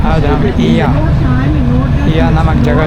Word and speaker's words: Oia: आपको जो दिखाई दे रहा है ये पनागिया चर्च है, ये ईया है, OIA लिखा है। यहाँ पे लोग ईया प्रोनाउंसिएशन करते हैं।